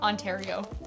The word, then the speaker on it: Ontario: Ontario brimmel Land in Ontario Ontario you have to say it like Mario yeah it's just a